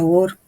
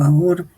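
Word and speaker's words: אור: hebreo la palabra luz se escribe con al Bau y res y se pronuncia or o aor Este término es profundamente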